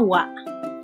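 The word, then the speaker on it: は: Nah, wa ini ditulis dengan hiragana ha, tapi dibacanya wa.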